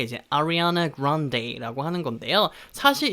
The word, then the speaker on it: Ariana: 아리아나 그란데라고 하는 이름은요, 영어로 이렇게 발음합니다. Ariana Grande라고 발음합니다.